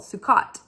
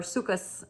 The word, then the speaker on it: Sukkot: And this week is called Sukkot, or Sukkot. You might hear people pronounce it that way.